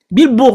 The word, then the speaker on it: Bill Burr: Bill Burr, on prononce ton nom comment?